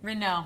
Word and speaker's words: Renault: 282-947, the Lotus Renault from TW Steel. Did I pronounce that right? Renault. Renault, that was embarrassing.